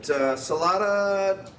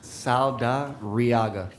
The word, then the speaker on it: Saldariaga: All right, Salada. Saldariaga. How you doing, Your Honor? Okay, how do you say that name? Saldariaga. Okay, you say so.